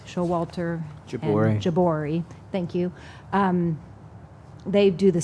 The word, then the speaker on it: Jabouri: and Jabouri, thank you.